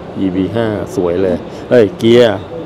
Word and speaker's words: Kia: ev5 สวย เลย เอ้ย เกียร์ อย่า อ่าน ว่า KN นะ ครับ Kia โลโก้ เปลี่ยน ใหม่